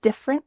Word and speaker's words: different: Diff with a clear F sound. Your top teeth are on your bottom lip. Diff. And then we have rint. Rint. It kind of sounds like R-I-N, but we need to have a stopped T at the end.